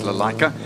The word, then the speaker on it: Lalaika: We did go and ask, how do you say the surname? And it's Lalaika.